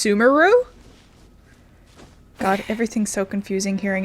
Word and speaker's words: Sumeru: than sumeru's frigid snake wine sumeros is not pronounced sumeru god everything's so confusing hearing it again that's